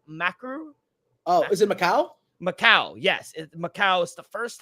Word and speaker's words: Macau: I don't know how to pronounce it. It's UFC Macau. Oh, is it Macau? Macau, yes.